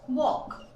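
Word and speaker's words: walk: Right friends, वॉक। के मैंने बोला, के पहले एल है, आप देखो वॉक। ये एल साइलेंट है क्योंकि इसकी प्रोनाउंसिएशन होती है वॉक, नॉट वाल्क, इट्स वॉक।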